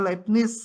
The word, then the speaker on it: Leibniz: Leibniz, bacanya Leibniz katanya.